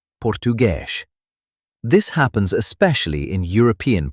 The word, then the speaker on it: português: The letter S at the end of a word often sounds like sh. For example, português, português.